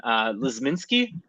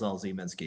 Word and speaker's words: Lzminsky: Lizminski? Well, my handle is LZ Minsky.